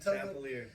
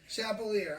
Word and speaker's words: Chappelear: Chappelear. Chappelear. All right, Chappelear.